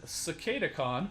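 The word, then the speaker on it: Cicadacon: so we got beast wars silver bulls and cicada khan that's how you pronounce it some other people have trouble pronouncing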